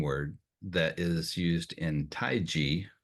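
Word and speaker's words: taiji: that is used in taii which in English unfortunately is often pronounced Tai Chi um but it has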